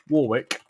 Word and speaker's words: Warwick: I always pronounce it Warwick because that's how it is in the UK.